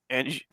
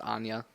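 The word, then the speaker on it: Anje: So first commander here is Anjay Falconwrath It's for pronounced Anya.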